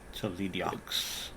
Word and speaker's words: Toledaux: Just Tolediox. yes, yeah. That's the first time I've heard someone pronounce it that way. I know it's Toledo. I know, but this goes